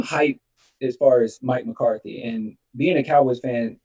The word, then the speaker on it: McCarthy: that kind of makes sense was it my Karthi is that how you say his name Mike Karthi Mike McCarthy McCarthy um have you said that he's more